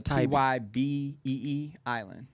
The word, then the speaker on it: Tybee Island: Tybee. It's Tybee Island.